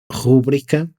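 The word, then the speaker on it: rubrica: amigas que também segue que rubrika não leva acento no u então eu me senti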